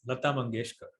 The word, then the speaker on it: Lata Mangeshkar: her name once so we know how to pronounce it it's Lata mangeshkar probably heard singer on the planet exactly so